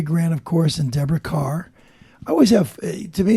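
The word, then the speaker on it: Kerr: of course and Deborah Carr I always have to me it's always a little funny because her name is spelled k k e r r but it's pronounced car and at that time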